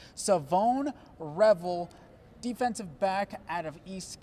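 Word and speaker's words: Shavon Revel: It's not pronounced how it's spelled, ladies and gentlemen. It's Savone Revel, defensive back out of East Carolina.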